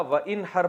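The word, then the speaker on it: وانحر: हैं अरबी में नहर तो वन असल में था वन हर पढ़ा जाता है मिलाकर वन हर तो अलिफ साइलेंट हो जाता है वन हर फसली आप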